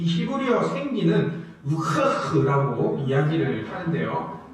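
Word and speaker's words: רוח: 이 히브리어 생기는 우흐흐라고 이야기를 하는데요. 네, 정말 이 히브리어 나중에 들어보시면 제가 발음했던 거랑 똑같이 이 랍비들이 이야기하는 것을 볼 수 있습니다.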